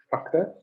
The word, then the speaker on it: chakra: Chakra, not chakra. Okay, some people are pronouncing it nowadays chakra, like an SH. It's not chakra. It is chakra or chakra with a ch.